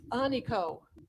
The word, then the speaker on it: Aniko: Okay, for many years, I mispronounced my own name, Which as, is as Aniko. But then I realized that my mother was correct when she said, I gave you a beautiful name and you've been mispronouncing it your entire life. It's Aniko.